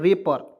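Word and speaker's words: wrapper: उसके बाद यहाँ डब्लू को साइलेंट करेंगे, RAPPER, क्या पढ़ेंगे दोस्तों, रेपर। ठीक है, रेपर पढ़ेंगे।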